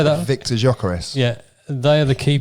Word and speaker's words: Gyökeres: I think, how do you pronounce that guy's name? Lockyer. No, the other one. Oh, Gyökeres. Sorry, say that. Victor Gyökeres.